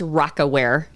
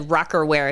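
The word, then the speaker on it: Rocawear: Adidas, and by the way, it's Rockaware. I was waiting to correct you. I didn't. When you said Rockerwear, it's Rockaware.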